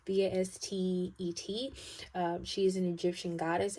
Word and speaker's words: Bastet: Some of you may also be dreaming about cats, and I think I said this about I think it's Bastet, I think is how you say it, Bastet.